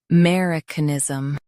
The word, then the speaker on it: Americanism: Stress mer and keep canism light. Mer, I, k, niz, Americanism.